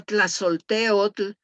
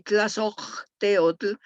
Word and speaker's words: Tlazolteotl: Y aquí tenemos a uno de los más importantes, que es la señora Tlazolteotl. Hay dos maneras de pronunciarlo, Tlazolteo y Tlazocteotl, que en el náhuatl,